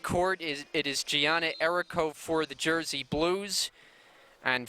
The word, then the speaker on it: Erico: get that pronunciation right we had been going with Erico but she notified us that it is Erico so she ran to